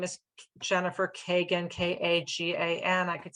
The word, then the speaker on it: Kagan: My name is Jennifer Kagan, and it's Kagan, K-A-G-A-N. That's G as in George."